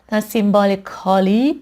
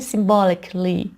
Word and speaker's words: symbolically: سیمبولیکالی تلفظ نمیشه. در واقع این A عملاً تلفظ نمیشه. اوکی؟ برای من symbolically.